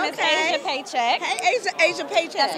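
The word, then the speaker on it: Pechak: my name is Asia paycheck hey Asia Asia paycheck that's my real name I know is it really paycheck that's really it's Yugoslavian it's crazy right how you spell it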